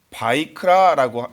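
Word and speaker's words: ויקרא: 앞에 동그라미 쳐 놨습니다 그게 히브리어로 바이크라고 읽습니다 그래서 히브리 사람들은이 레위기를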